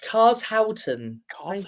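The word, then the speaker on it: Carshalton: born in 1962 in car car carlston oh dear have you ever seen that that video where the guy can't pronounce a certain place yeah yeah yeah wers can't say at all Howton cars thank you very much cars Howton much sounds born in 1962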